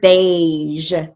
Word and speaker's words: beige: Now look at the word beige. Now beige is spelled B-E-I-G-E, but it has a long A sound, so we're going to write it with the long A.